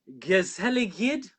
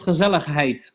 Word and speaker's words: gezelligheid: the other, and I make sure that I'm pronouncing it right. Gezelligheid. Gezellig of gezelligheid.